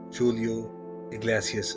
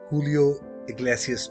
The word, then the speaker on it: Julio Iglesias: दोस्तों, जूलियो का पूरा नाम जूलियो इग्लेसियस है, पर शायद स्पेनिश में उन्हें हुलियो इग्लेसियस प्रोनाउंस किया जाता है। मुझे एग्जैक्टली पता नहीं है, लेकिन शायद यही है।